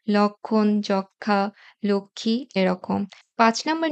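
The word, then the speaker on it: লক্ষ্মী: সাথে যখন ম ফলে যুক্ত হবে তখন তার উচ্চারণ হবে না যেমন সূক্ষ লক্ষণ যক্ষা লক্ষী এরকম পাঁচ নাম্বার নিয়মটা হচ্ছে ম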